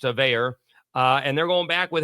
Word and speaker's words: Veilleux: You would think it looks like it's a Cajun name. It looks like it's French Canadian, but it's not. It's more pronounced American, although it's spelled like a Cajun name, but it's pronounced Veilleux.